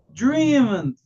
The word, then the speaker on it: dreamed: Este verbo con sonido sonoro solamente voy a pronunciar la letra D. Dream, dreamed, dreamed.